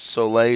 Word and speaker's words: Soleil: I've been taught it's Soleil is how you pronounce his name, and how's that going?